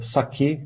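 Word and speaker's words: psake: c'est invox AK donc ça s'écrit PS AK euh mais ça se euh prononce euh saqué comme le vrai le boisson japonais euh le vrai build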